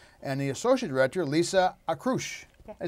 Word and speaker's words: Akroush: So we have with us the Artistic and Executive Director, Daniel DeWalt, and the Associate Director, Lisa Akroush.